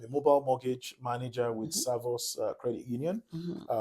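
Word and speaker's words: Servus: I'm a mobile mortgage manager with Savos Credit Union. Uh Savos is spelled Serv US.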